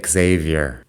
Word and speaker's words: Xavier: Javier in Spanish is usually with a J and people who spell it with an X might be chavei. Anyway, for some reason when we're pronouncing this name in English, we say Xavier.